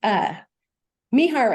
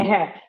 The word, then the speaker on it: Meher: And it's Mihar and Me. Is that right? Pronounce it correctly? Meher. Correct. Meher.